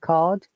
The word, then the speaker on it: card: Now you can see card R is silent, teller R is silent, but in withdraw R is pronounced because there is a vowel sound after R.